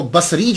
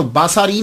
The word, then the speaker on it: بصری: یاد رکھیے گا کہ جب آپ اس کو تلفظ کریں گے تو باساری نہیں کریں گے، سواد کے اوپر زبر نہیں پڑیں گے۔ اگر آپ نے سواد